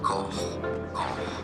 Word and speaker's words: Koch: perhaps it is because it comes from German, and in German it's said as Koch. Koch. And because the H sound from German doesn't exist, there are different pronunciations in English. Some say it Cock. as Cock. Och.